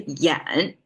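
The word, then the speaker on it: 㫃: parts things a lot simpler simply a it's pronounced as a Yen but it's not part of today's lingo anymore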